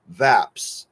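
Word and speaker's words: VAPs: we can all which we can call vApps VAP s rhyming with maps for short mnemonic device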